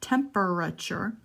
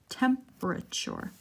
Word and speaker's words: temperature: right to the our we're skipping the e it's not temperature she said temperature for anyway pause it